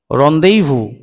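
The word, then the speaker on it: rendezvous: এই যে এখানে দেয়া আছে রন্দেইভু, তাহলে উচ্চারণ করব আমরা রন্দেইভু।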